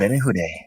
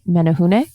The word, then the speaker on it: Menehune: it down, but I don't trust myself in pronouncing it. Hobbits. Yeah. The what? Menehune.